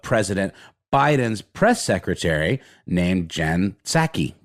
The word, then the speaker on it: Psaki: And you ask for, press credentials, essentially, to ask questions of President Biden's press secretary named Jen Psaki. Guessing the P is silent.